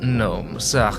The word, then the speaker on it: gnome: Here we are, the negative gnomes, get it? Because the G is silent and such, delightful.